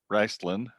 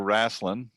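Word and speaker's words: Raistlin: smiling i say i even when it comes to raceland we we get pronunciations depending on the geographical area sure okay um there are many areas in the country that produce pronounce it riceland or wrasslin um and there are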